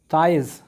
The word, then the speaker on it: tithes: जो एक ताइज़, ये फ्रेंच वर्ड है, ठीक है, TITHES, इसको प्रोनाउंसिएशन ताइज़ कहा जाता है, लेकिन अगर तुम चाहो याद रखने के लिए तीथे भी बोल सकते हो, कोई प्रॉब्लम नहीं।